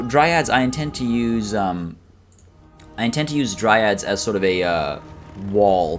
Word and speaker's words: Dryads: Durthu, of course, we've got 3 Dryads, as I learned how to pronounce last stream.